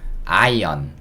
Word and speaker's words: iron: 다리미에 다이미 예 자 어떻게 읽을 거냐면요 아는 그냥 아라고 읽을 겁니다 그리고 r 약간 소리가 약간 들리고요 잘 안 들려요 그다음에 는요 여기서 어 소리 그다음에는 니은 소리 그래서 이거는 아 아 이렇게 들요 근데 이게 어렵잖아요 그래서 한국 사람들은요 아은 묵음이다 생각해주시고 그냥 아이언 아이언 렇게 해도 됩니다 렇게 하셔도 충분히 통 가능해요 아이언은 없다라고 생각하고 읽으셔도